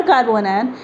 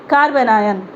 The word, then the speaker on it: carbanion: इट्स नॉट कार्बो एनायन, इट्स कार्बोनायन, CARBANION, कार्बोनायन। Spelling mistake होगा चलेगा, pronunciation mistake नहीं होना चाहिए।